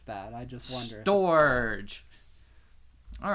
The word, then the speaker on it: Storge: I like Storge. Yeah, that one's very good. Rhymes with George. Okay. She seems a little sad about Storga. Well, I don't know if it's that. I just wonder. Storge.